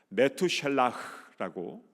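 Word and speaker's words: Methuselah: 무두셀라의 이름의 뜻, 메투셀라흐라고 원래 이제 발음을 하는데요, 그 무두셀라의 이름의 뜻은 그가 죽으면 심판이 온다라는 뜻입니다.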